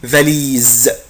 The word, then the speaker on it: valise: une valise اخلي بالي من كلمة valise قلت لك لا لتر اس جايبين حرفين متحركين هنطق الاس ايه زد une valise شنطة سفر.